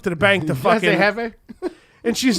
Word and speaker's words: jefe: Hefe. Hefe. Because it was supposed to be Spanish because the J is silent. Yeah. Actually, it's not silent. It's H.